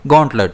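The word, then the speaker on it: gauntlet: अब इसे हम प्रोनाउंस करेंगे गोंटलट। और इसमें स्ट्रेस जो है वो जी पर रहेगा।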